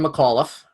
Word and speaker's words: McAuliffe: McAuliffe.